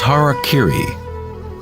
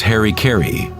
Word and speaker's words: harakiri: suicide or seppuku was harakiri was often mispronounced as harry kerry it means to